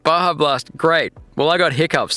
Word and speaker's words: Baja Blast: Oh, it's pronounced Baja Blast.